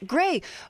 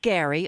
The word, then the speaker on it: Gray: that that's okay so gray um you have a website which is it's me your name gray not gary i'm sorry i mispronounced your name uh earlier because it was a typo my fault gray no